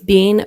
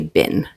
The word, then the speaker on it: been: So technically it's been, but in American English, we tend to say been.